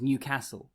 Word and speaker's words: Newcastle: think of is once the right way of pronouncing newcastle is newcastle and once you once